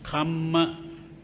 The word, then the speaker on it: kamma: The Pali form is kamma, K-A-M-M-A. Kamma. But some people spell it wrong as K-A-M-A. So if you say K-A-M-A, it is not kamma, it is kama. It has a different meaning.